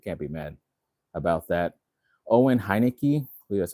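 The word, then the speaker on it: Owen Heinecke: Owen Hineki, that's how you say his name.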